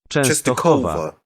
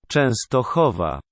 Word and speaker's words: Częstochowa: Częstochowa. Częstochowa, Poland. Which is interesting because it's a W, but pronounced like a V.